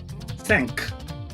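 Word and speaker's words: cinq: Five in French is sank. Sank.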